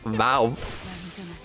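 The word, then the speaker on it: vav: The wow is pronounced vow. Yeah, I think I'll call it wow though, because I think that's funnier.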